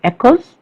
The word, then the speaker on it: echoes: And by the way, the E is not pronounced. It is not like clauses. It is not a way to relax while or to have a rest while pronouncing. No. Potatoes, heroes, echoes without pronouncing the E.